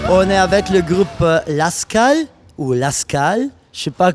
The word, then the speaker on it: Lasskahl: En gros, on voulait un nom qui se prononce pareil dans toutes les langues. Et le truc, c'est que là, tu as mis quelques accents, mais en somme, peu importe d'où tu viens, Lascal, tu le prononceras Lascal. Donc on a inventé ce mot et pour que ça se prononce parfaitement partout.